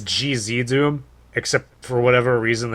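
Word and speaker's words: GZDoom: I think it's GZ Doom, except for whatever reason, everybody on YouTube and everywhere pronounces it Cheesy Doom for some reason. The way it sounds to me, it's GZ, or GZ, the letters.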